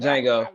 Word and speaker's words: Django: Django, say my bad, Django, my bad. My bad, bro. Silent. The D is silent, Django. Make sure you say it right.